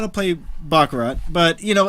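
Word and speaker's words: baccarat: most people don't know backarat know back but they never had a problem putting backarat in the in in in Bond movies before they just can you guys pronounce it properly it's bakara bakura and I don't think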